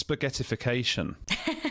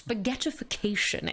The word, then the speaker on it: spaghettification: What's spaghettification? My favourite word ever. You've got to say it properly. Yes. Spaghettification. It needs some sort of like... Spaghettification. Yeah, so it's like Sean Connery.